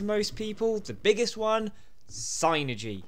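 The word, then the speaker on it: Psynergy: people the biggest one zynergy it's psychic energy synergy not synergy synergy oh we're off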